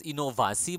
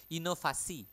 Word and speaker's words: inovasi: creativas innovac innovi Innova but again we don't pronounce it as innovasi but inovasi with f inovasi okay inovasi motivasi again F